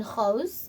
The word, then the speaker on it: Gouws: we are speaking with gavin host of gavin hoes photography and vigil am i pronouncing your um your surname correctly 100 thank